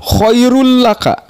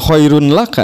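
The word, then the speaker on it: خير لك: Untuk contoh tanwin pertama, lam, domatain atau tanwin bertemu dengan lam, khairul laka, bukan khairun laka, ya, jadi khairul laka, langsung dilebur ke lam.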